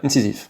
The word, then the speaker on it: Incisiv: Donc ça s'écrit I N C I S I V. C'est ça. Tout à fait. Ouais. Incisif.